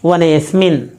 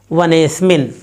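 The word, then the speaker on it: वनेऽस्मिन्: तो इसका उच्चारण इस प्रकार से किया जाएगा वनेस्मिन कैसे वनेस्मिन इस तरह से और इस तरह से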